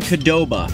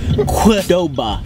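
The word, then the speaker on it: Qdoba: we have not done kadoba qudoba qudoba yeah I that's how you pronounce Q's in this world you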